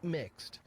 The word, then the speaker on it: Mx: use the pronoun mr instead using mx pronounced mixed a title which does